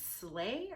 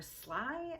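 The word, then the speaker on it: Slaai: is from drunk elephant i cannot pronounce this i think it's slay or sly s-l-a-a-i makeup melting butter cleanser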